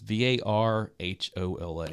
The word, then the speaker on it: Varhola: Andreas Varhola Jr. Varhola, Varhola. Varahola? It's Varhola.